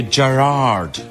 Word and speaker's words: Gerard: like that it's yeah it's the emphasis on the first part but here in America it's Gerard and it goes wrong